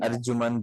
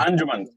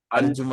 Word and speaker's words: Arjumand: अच्छा नजो भाई, सॉरी अगर मैं आपको नाम गलत प्रोनाउंस कर रहा मेरा हूँ। अर्जुमन। जी अर्जुमंद। अंजुमन अर्जुमंद।